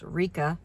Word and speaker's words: Licca: Lika, I think it's her in Japan. Her name is pronounced Rika, but I call her anything from Lika to Leica.